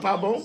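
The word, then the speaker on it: pa bon: Is it pas bon? Yeah, it's pas bon. With an M? Pas bon. With an N on the end, but the N is silent.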